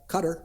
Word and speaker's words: Qatar: I mean, more so probably than they were to go to Qatar or Qatar, depending on how you want to pronounce it.